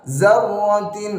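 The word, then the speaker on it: ذرة: Ini pakai zal, jangan pakai zai, jangan pakai za. Zarratin. Nah, ini masih banyak yang menggunakan huruf za, harusnya pakai huruf zal.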